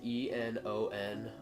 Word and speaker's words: Enon: I'm gonna say Enon for just that's how I would pronounce it. It's spelled E-N-O-N. From this, it would look like it would just be none being repeated, but I looked it up and it's actually Enon, E-N-O-N.